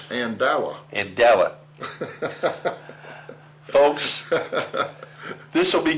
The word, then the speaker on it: Andala: still say andela andela did I say it right no andela you say an andela Andel it's andala andela folks this will